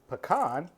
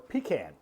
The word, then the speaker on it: pecan: Pecan or pecan? How do you say it? That Is the question. is the question that people ask every year, especially in the South. In the South, it's a pecan.